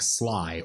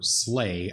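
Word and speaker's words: Sligh: since the classic deck Sly, or Slay, I'm not really sure how it's pronounced. Anyway, it's spelled S-L-I-G-H, and people started calling it Red Deck Wins back when that was around.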